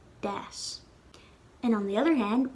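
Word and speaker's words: d'fhás: So we'd pronounce the D like D, das.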